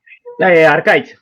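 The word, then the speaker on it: Arkaitz: Arcais, ¿se pronuncia así tu nombre? Arcaiz. ¿El nombre es vasco? El nombre es vasco, sí, Arcaiz.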